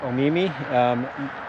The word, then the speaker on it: Omemee: So what I'm going to do is I'm going to go to Omemee. I believe that's how you pronounce it. Yep, Omemee.